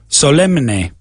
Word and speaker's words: solemn: You don't pronounce the N.